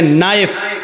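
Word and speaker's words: knife: जैसे इंग्लिश में नाइफ किसको कहते हैं? चाकू को। नाइफ के माना चाकू, लेकिन के लिखा जाता है, बोला नहीं जाता, वो साइलेंट रहता है।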